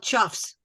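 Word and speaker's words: choughs: They were consuming, one of you birders out there, tell me the pronunciation. Cause? Birds, what? They're called chuffs.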